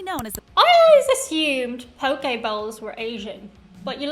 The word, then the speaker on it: poke: as I always assumed Poke Balls were Asian but you're learning something new every day poke I always said Pokey if I've been saying it wrong potato state but when